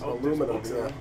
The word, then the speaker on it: aluminum: I think that's aluminum.